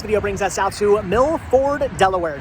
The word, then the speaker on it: Milford: say this town wrong they're always saying fur for some reason Mill Ford anyway we're not actually out here today to talk about how you correctly pronounce f o r d you don't drive a fur truck you drive a Ford truck anyway right here now